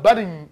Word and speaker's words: button: No, there's a little red button, but 버튼이라고 안 들리니까 button 이렇게 들리죠?